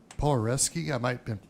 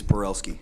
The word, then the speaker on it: Porelski: Next, Polareski. You might want to correct my pronunciation, sir. Thank you. It's Porelski. Porelski.